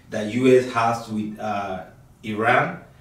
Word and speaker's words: Iran: that game and for those of you who pronounce Iran as Iran you you heard the journalists say it's not Iran it's Iran respect Every Nation okay